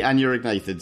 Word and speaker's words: Anurognathids: and also with a cold, because we're doing Anurognathids. I think that's how you pronounce it, isn't it, Dave? The Anurognathids, yes.